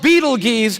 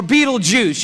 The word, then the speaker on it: Betelgeuse: It's called Betelgeuse or Betelgeuse. You can pick your pronunciation. I'm obviously going with Betelgeuse, and Betelgeuse is incredible.